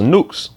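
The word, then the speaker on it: νύξ: at night is G 3571 which is nukes pronounced nukes all right it means night or metaphorically the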